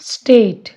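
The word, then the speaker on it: state: अब ये ब्लेंडिंग है, इसको हम एस-टी को स्ट पढ़ेंगे। स्ट, ए, ट और एंड का ई साइलेंट रहेगा। स्टेट, हेट।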